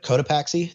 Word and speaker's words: Cotopaxi: Flight 19 and the SS, is that the Cotopaxi? How do you say that? I think you got it right. Cotopaxi.